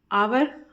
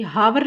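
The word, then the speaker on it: hour: उच्चारण कर रहे हैं आवर य हावर नहीं बोला जाता आवर बोला जाता है तो आ का साउंड आ रहा है इसलिए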